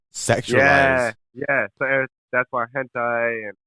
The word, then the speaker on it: hentai: So that's why hentai and not sure if I'm fucking up that name. Don't judge me. Hentai. And yeah, that's what it's. That's how you say it, right? Yeah, right. Yeah, hentai.